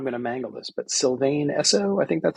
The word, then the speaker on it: Sylvan Esso: one of them is part of, and I'm going to mangle this, but Sylvain Esso, I think that's how it's Oh, pronounced. Sylvan Esso.